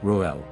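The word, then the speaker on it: Reuel: true name of Jethro also known as Ruel or rajual originates from the Semitic languages and means friend of God or Divine friend pronounced as roel after the battle of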